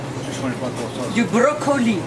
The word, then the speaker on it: brocoli: Du brocoli. It's spelled just like it sounds in English, broccoli, du brocoli.